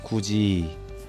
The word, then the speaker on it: 굳이: 자, 굳이 같이. 자, 어떻게 발음하죠? 굳이 같이 이렇게 발음합니다. 디귿이 뭐로 바뀌었다고 볼 수 있습니까? 지읒으로 바뀌었고요. 티읒이 뭐로 바뀌었습니까? 치읒으로 바뀝니다.